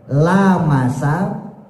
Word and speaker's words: lamasa: Jadi lamasanya dibaca pendek, Pak. Lamasa. Kalau kita kan bacanya lamasa, gitu ya. Nah, lamasa di situ dalam mazhab Hanafi dibacanya pendek.